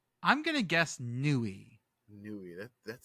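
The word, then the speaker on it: Newry: siren but something is silent I'm gonna guess Nui Nui that that sounds good I like Nui but I feel like the r is in here somewhere Neary friends this is Nori oh no it's not no it's [ __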